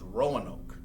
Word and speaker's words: Roanoke: This word, how you say it, is Roanoke.